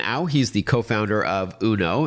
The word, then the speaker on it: Unoo: All right, so the name of the company is UNO, but it's spelled U N O O, and I understand you've got one model, but a couple of different colors.